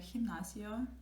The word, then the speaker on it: gimnasio: It's a gimnasio, for example. And again, this sounds like a he. So G and he, it's a H, not a G.